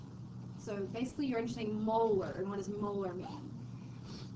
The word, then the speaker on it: molar: We don't say that's 2 molarity. We say that's 2 molar. So like a molar in your mouth, like a tooth molar, that's how you say it.